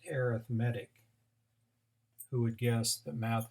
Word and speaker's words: arithmetic: we're going to talk about today are called arithmetic sequences and I know it looks like arithmetic but it is pronounced arithmetic who would guess the math is different arithmetic